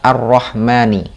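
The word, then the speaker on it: الرحمن: Di sini, alif-lam dalam “ arrahmani” disebut “alif-lam syamsiyah.” Ini berarti bahwa ketika ada alif-lam syamsiyah, seolah-olah huruf lam di sini tidak ada. Jadi, jika dibaca dari huruf alif, langsung menuju huruf ra, digantikan oleh tashdid, kan? Jadi, bunyinya seperti "arrahmani." Arrahmani. Jadi jika ditulis dalam bahasa Indonesia, mungkin huruf 'r' digandakan , "arr-ahmani," seperti itu. Itulah yang disebut dengan alif-lam syamsiyah.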